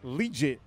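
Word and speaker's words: Liuget: Corey Legit, which I've been saying his name wrong, Okay. but it's too legit to quit.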